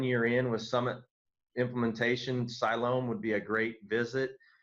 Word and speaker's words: Siloam: to travel to Siloam I said it I used to say it wrong I used to say Siloam Springs but it's Siloam Siloam Springs Arkansas yesterday to